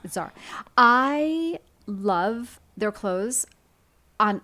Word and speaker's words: Zara: me to walk into some of these like Zara? People love Zara, and I know. How do you say it, by the way? My friends make fun of me. I say Zara.